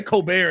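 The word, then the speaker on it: Colbert: Adrian Coober you say coar and it alwayss me off you do the French it's pronounced right that's exactly how he says like those are the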